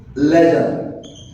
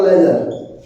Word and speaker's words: ledger: क्या बोलते भाई इसको? लेजर। जो प्रोनाउंसिएशन होता है वो होता है लेजर।